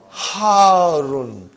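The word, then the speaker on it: حارّ: Al-labanu harun. Harun. Because the shadda is on ra. So you got to pronounce it properly.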